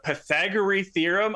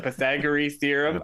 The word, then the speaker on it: Pythagorean theorem: we're going to use the pythagore theorem I'm probably even that I'm pronouncing wrong I'm terrible at math but the Pythagorean theorem Pythagorean my Greek ancestors are pissed